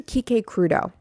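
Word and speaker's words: Quique Crudo: Um, and then we went to Kik Crudeau, which was an absolutely, and now let me spell that for you because I know it's it doesn't it's not spelled the way it sounds.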